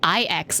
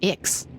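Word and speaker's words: IX: our own paths oh she pronounces it I ex and not X it seems that my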